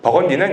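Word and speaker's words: Burgundy: 이제 붉은이는 이제 불어식 발음이고, 버건디는 이제 영어식 발음입니다.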